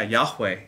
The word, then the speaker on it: Yahweh: Yeah, Yahweh is fine.